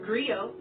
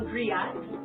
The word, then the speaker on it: griot: It's pronounced griot, or in English, a griot. It's a West African term for the person who